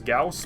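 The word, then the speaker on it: Gauss: Maybe some more Goss cannons or Goss turrets. That's how he pronounced it anyway. It was Goss. I always thought it was Gaus, but all right.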